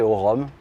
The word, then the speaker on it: Aorum: Qui s'appelle Aorum, qu'on peut prononcer Aurum pour ceux qui ne savent pas.